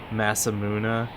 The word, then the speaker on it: Masamune: Point of fact is pronounced Masamuna.